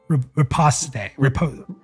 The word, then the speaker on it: riposte: Riposte.